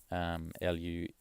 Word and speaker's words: luego: Luego, and that's like, if I phonetically sounded, it'd be like luego.